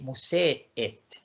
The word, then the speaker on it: museet: Y acuérdense, la pronunciación es musé, porque es museum, museet, no es museet, sino que es musé, la acentuación va a la primera E, museet.